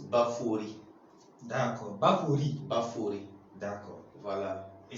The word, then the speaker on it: Baphoret: la prononciation du nom baforé normalement ça se prononce baphorie donc Bakouri d'accord voilà et ça signifie quoi